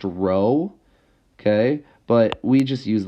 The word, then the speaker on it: rho: Okay, so this symbol here is pronounced rho, okay, but we just use the letter P, and we can honestly call it P.